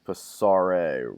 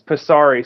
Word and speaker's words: Passare: Uh it's Pesari. Some people say Pasar that it's it's an Italian word, so it's it's kind of hard to pronounce, but Pasari stands for to pass through.